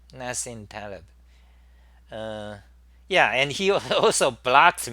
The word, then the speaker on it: Nassim Taleb: dislike yeah Nassim Taleb is that how you pronounce his name Nassim Taleb yeah and he also blocked me you know